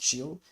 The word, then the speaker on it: CHEEL: And of course the ticker symbol of Cheelee is CHEEL, just like chill, as the song say, wait a bit, or relax, rest a bit. So it's pronounced chill, and I think, in my own opinion, the pronunciation is Cheelee.